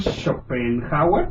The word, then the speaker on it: Schopenhauer: nació Arthur Schopenhauer, así se pronuncia, Así es, si no me equivoco.